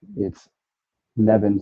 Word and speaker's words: Neven: I'm convinced it's Neven, but right now we're going to say Nevin. It is Neven/Nevin Eyewear. Never odd or even. It's Nevin.